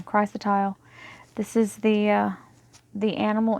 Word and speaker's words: chrysotile: much well Crystalis or kris chrysotile this is the sorry i said it wrong chrysotile this is the the